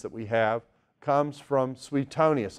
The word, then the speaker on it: Suetonius: from sweet Tony acai always liked the way the great pastor w8 Criswell pronounced the name of this historian he didn't say sweet Tony as he said sweet toniest that's SW EE EEE T of ni us Suetonius also was a